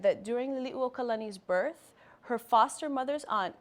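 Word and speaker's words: Liliʻuokalani: name of one of our ali that's commonly mispronounced liliuokalani liliu means to spin or be dizzy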